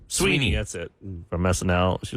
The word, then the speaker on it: Sweeney: Sydney Sweden. What's her name? Sydney Sweden or how do you say her name? Sydney, Sweden. Is that her name? Sweeney. Sweeney.